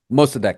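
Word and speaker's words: Mosaddegh: there actually was a leader that was popular Mostadiq How do you pronounce the name? Mostadiq? Mostadiq, yeah.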